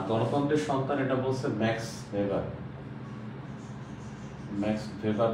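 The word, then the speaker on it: Weber: আমরা অনেক সময় দেখি ওয়েভার লেখা আসলেটা হবে ভেভার ম্যাক্স ভেভার এটা ডিডব এটা কি এ ডয়েস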